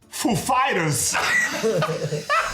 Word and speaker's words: Foo Fighters: He asked us if the accent was on Foo or Fighters. The accent is on Fighters, actually. He's like, "Ladies and gentlemen, Foo Fighters!"